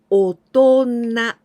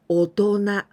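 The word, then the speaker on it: 大人: Now, this is a very irregular way to pronounce. Otona. Otona. Really strange, right?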